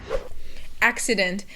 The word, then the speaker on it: accident: mispronounce this one because you have the two C's and they each have a separate sound. So the first C is like a K sound and the second C is like an S sound.